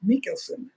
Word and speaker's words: Mikkelsen: It's pronounced Mikkelsen, Michelson.